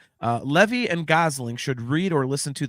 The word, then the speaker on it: Gosling: kind of questioning the Ryan Goslin uh thing or uh did I just get his name wrong? No, Ryan Gosling.